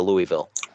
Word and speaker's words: Louisville: lot of effing money to move up to Louisville. It's pronounced Louisville.